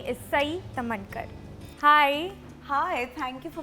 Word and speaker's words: Sai Tamhankar: Joining me in a conversation on Women Up Season 3 is Sai Tamankar. Hi. Hi, thank you for pronouncing my name correctly.